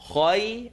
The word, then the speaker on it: خير: Khay, the A sound, just like in وَاللَّيْلِ. I want you to enunciate the A.